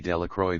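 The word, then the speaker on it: Delacroix: Bobby and Harry Jones and Dicky Delroy. The villagers pronounced this name Delacro Dash.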